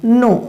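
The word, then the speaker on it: know: right अच्छा यहां देखो नो नो मींस जानना और नो से पहले आप देख रहे हैं एन से कि एन से पहले के है और जबकि के यहां पास क्या है साइलेंट मड में है क्या है साइलेंट मोड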